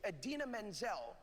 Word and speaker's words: Idina Menzel: The iconic and brilliant Idina Menzel, pronounced exactly as it is spelled, is our Elsa.